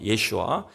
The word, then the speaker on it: 예슈아: 자, 예수라는 이름의 히브리어 발음이 뭐냐면 예슈아입니다. 예슈아. 이 예슈아는 우리가 잘 아는 여호수아와 같은 단어예요.